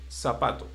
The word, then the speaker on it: zapato: They will pronounce like zapato. Okay. But in Latin America, we don't say it like that. We say zapato. Just like Zapato. yes, just like an S and not like a C.